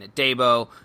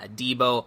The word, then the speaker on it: Adebo: Paulson Adebo, I had kept saying Adebo, but it is Paulson Adebo, also a guy that Ross Jackson loves, and yes, check out Dilly Sanders' thread on him.